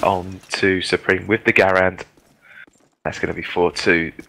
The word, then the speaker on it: Garand: I'm just pronouncing Garand correctly, as Menace did pick me up on it as well. And it's now 4-2 the score. Do you want to say it my way?